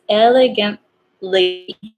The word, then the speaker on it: elegantly: T is still there, even though you don't really pronounce it. So it's elegantly.